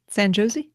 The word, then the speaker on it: San Jose: San Jose? Uh-huh. I think that's the accepted pronunciation.